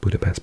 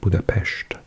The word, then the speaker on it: Budapest: with its capital of budapes because s is are pronounced in Hungarian as a sh so it's not Budapest but Budapest so we got three